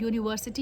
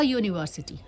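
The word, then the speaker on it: university: तो आप यूनिवर्सिटी में भी आप देखेंगे य का साउंड आ रहा है, तो आप क्या बोलेंगे? अ यूनिवर्सिटी.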